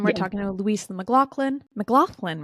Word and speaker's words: McLoughlin: McLoughlin, right?